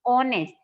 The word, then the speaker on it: honest: This honest, and the pronunciation of this word is honest, not honest. H is silent here.